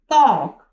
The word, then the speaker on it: talk: टॉक, TALK, टॉक। टॉक में क्या है, एल क्या है हमारे पास, साइलेंट लेटर है।